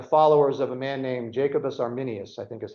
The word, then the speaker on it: Jacobus Arminius: which will eventually reach an argument between the followers of John Calvin and the followers of a man named Jacobus Arminius I think is how you say his name